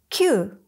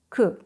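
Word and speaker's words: 九: 9, kyu or ku.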